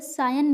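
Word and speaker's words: scion: Collision means क्या होता है, टक्कर होना, और सियन मीन्स क्या होता है, सायन मीन्स, इसको इसका प्रोनाउंसिएशन होगा सायन, सायन मीन्स क्या होता है, वंशज, वंशज होना।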